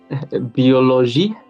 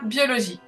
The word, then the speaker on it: biologie: Donc tu l'as prononcé en fait comme d'habitude. Biologie. Oui, c'est ça. Biologie.